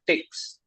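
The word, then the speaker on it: TikZ: So you'll have to use something called Tix.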